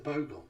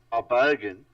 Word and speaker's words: bogan: I'm so used to watching those Aussie dashcam pictures with the Bogon, with your bogey whatsits in their V8. Bogan.